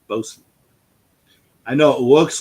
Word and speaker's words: Boatswain: If you guys don't know how to pronounce Bosun, that's Bosun. I know it looks like Boatswain, but that's Bosun.